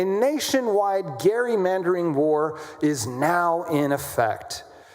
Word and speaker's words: gerrymandering: I was learned I learned how to pronounce that correctly is is uh the legislator from Massachusetts who uh gave rise to the word gerrymandering which is how we say it. His name was Gary. So gerrymandering, a nationwide gerrymandering war